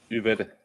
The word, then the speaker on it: Yvette: Well, I said Yvette. Yvette is how we would say it. Yeah, Yvette. Yeah, because you say the Y like an I.